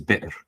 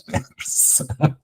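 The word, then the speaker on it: بئر: you see a well, you should pronounce it as bir, not as ber.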